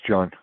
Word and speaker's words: Jean: Hi, Hi, it's pronounced John.